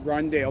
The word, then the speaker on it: Rondale: more all right my my my name is Rodney Rodney rondale R Rondell it's spelled capital r o n d a l